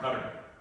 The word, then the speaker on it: CDR: the CDR and anyway people pronounce that car and cutter so some computer science